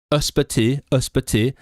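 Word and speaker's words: ysbyty: The first two, so the stress is on the second one. So the first one and the second one, before stress and stress, you say the and then after stress you say E.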